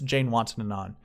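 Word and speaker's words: Janewattananond: Yes, I know how to pronounce the name. Jazz Jane We'll just call him that. But it's Jane Watson and on.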